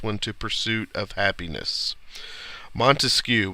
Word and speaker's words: Montesquieu: to pursuit of happiness Montesquieu we remember that it's got three syllables Montesquieu and those stand for